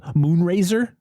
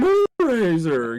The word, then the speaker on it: Moonracer: So was it King Moonraiser? It's literally his name. Because Charlie says it's King Moonracer.